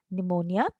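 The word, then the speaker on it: pneumonia: the spelling again here here the letter P the alphabet P is silent here and we pronounce the word as निमोनिया इट इज an infection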